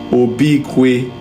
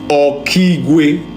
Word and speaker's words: Okigwe: I'm seeing something that called Obikwe. Obikwe. Holy Spirit, help me spell it, pronounce it for me. Obikwe. Okigwe.